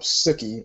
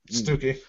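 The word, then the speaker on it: Stookey: I'm gonna say his last name wrong. Bob Stuckey or Stuckey. Stooky.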